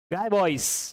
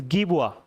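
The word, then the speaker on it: Guy Bois: Guy Boys, you can say, but the correct pronunciation is Guibois.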